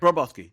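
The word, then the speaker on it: Bobroczkyi: going to I I'll tell you in a second how you pronounce it roboski that's how you pronounce okay I'm right it's an hungar is of Hungarian descent he got an Hungarian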